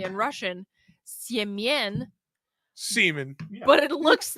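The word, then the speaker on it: Семён: so I was on Russian Tinder, and I encountered more than one person named, when you pronounce it correctly in Russian, Siemien, Semen.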